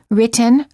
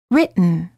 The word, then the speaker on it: written: Ridge but similarly don't say written or written say written don't say kitten or